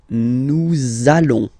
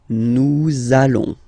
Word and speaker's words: nous allons: it does mean that you will have to pronounce this z sound, okay, listen to me, nous allons, nous allons. Okay, nous allons.